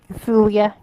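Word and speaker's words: Sulia: Mai and Andy went to one place, and Terry, Joe, and Celia, I think. It's hard to. I'm trying to remember how to pronounce her name. Celia.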